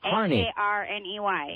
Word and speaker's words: Harney: I keep wanting to mis mispronounce it. I think it's Harney. H A R N E Y.